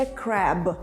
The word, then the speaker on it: crab: crab - це краб але цей краб продовжує бути крабом тільки допоки ви правильно вимовляєте це слово це crab А це crap зрозуміли якщо не хочете